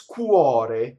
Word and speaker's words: cuore: You'll often see the modern version of this word, which is cuore, as u, and it's a uo and it's open o, right?